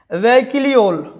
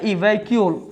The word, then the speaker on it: vacuole: English में देखिए क्या बोल रहा है, वैक्यूल, वैक्यूल, इसको इंग्लिश में क्या बोला गया, वैक्यूल। इसका स्पेलिंग है VACUOLE, वैक्यूल।